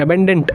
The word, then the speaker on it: abundant: सुनों अगर हम देखेंगे प्रोनाउंसिएशन तो सेम है बट थोड़ी स्पेलिंग याद रखिएगा, ABUNDANT, अबेंडेंट, इसका मतलब होता है